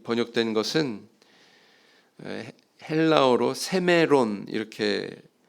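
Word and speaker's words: σήμερον: 오늘날 이 번역된 것은 헬라어로 세메론 이렇게 발음하는 단어인데요.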